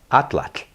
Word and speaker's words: atlatl: so let me just atlat atlat is this interesting thing happening at the end of that word where there's a t and then the the breath coming out kind of like makes